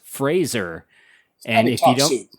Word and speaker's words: Fraser: That's Fraser not Frasier.